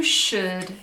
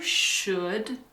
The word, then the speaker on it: should: You should take an aspirin. Okay. You should take an aspirin. This word, should. The L is silent. The L has no sound.